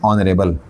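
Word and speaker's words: honorable: ये ऑनरेबल है भाई, सीधी सी बात है, एच साउलेंट है, ओ साउंड आ रहा है, एन ऑनरेबल, समझ गया, एन ऑनरेबल पर्सन या टीचर व्हाटएवर।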